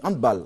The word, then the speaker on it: handball: Oui, handball. Il faut dire handball. Ouais. C'est une prononciation. C'est plutôt allemand. Allemand. Non anglophone. Non. Voilà, c'est pas anglais. C'est pas anglais. Donc faut plutôt dire handball.